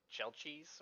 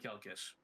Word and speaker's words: Chelchis: Wait, you did say Doom of Kelkis. I did. He did. He said it right the first time, and you're fucking with him.